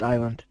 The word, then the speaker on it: island: equatorial just real quick the S is silent it's pronounced Island sorry that's okay you didn't